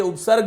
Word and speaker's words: उपसर्गः: सरल करके आज ये उपसर्ग जो बिंदु हैं उसके बारे में हम बात करेंगे। वस्तुतः इसको हम उपसर्ग बोलते हैं। अस्य विशुद्ध उच्चारणं भवति उपसर्गः, अर्थात ये जो उपसर्ग